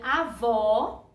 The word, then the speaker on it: avó: ele é aberto né feito eu já expliquei aqui com a palavrinha avó é isso avó que o sonzinho é aberto e avô com sozinho mas para baixo então é o acento circunflexo porque o sonzinho dele é fechado Tá bem então lembra